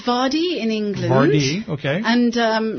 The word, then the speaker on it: Vardey: for us well it's vadi in english okay and um chaka khan calls me faraday okay and then her bass player calls him vardy because it rhymes with party what would you like